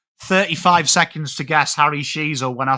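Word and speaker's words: Sheezel: seconds to guess Harry Sheasel when I said the first name is a prince in the UK. The surname, your surname rhymes with a famous cheesy snack.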